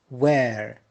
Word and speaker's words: where: Where. Notice here H is silent.